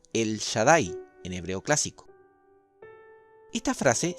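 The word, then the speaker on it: אל שדי: si está relacionado con esta frase que se pronuncia el shaddai en hebreo clásico esta frase se traduce en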